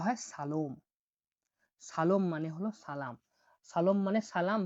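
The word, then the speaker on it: salom: দেখুন দেখুন, সালাম, সালামকে উজবেকিস্তানে বলা হয় সালোম, সালম মানে হলো সালাম।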